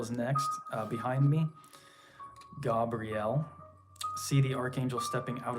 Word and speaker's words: Gabriel: waterfalls associated with the Gabriel energy um more more correctly pronounced Gabrielle and then Donald Michael Craig says to emphasize that last syllable so Gabriel and yeah